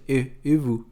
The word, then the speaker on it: et vous: Igual aqui, o T nem pronuncia. Et vous, et vous.